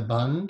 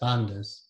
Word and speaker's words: bandha: For those of you who might know, they're what are called the bond. It's not easy to pronounce this. The bond, or it's pronounced in the West, bandhas.